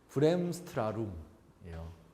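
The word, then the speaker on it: Bremsstrahlung: 브렘스트라룸이에요. 알겠죠? 브렘스트라룸. 요 H는 묵음이라고 생각하면 되고요.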